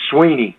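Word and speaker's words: Swinney: It's Dabo, as in Apple, Dabo, and I get all kind of pronunciations of that, and it's Sweeney, as in just like E-E.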